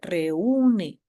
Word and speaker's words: reúne: la pronunciación otro ejemplo reúne Si no tuviera la tilde diría reúne Sí pero tengo que romper ese diptongo y convertirlo en yato para que la pronunciación sea correcta reúne baul lo mismo de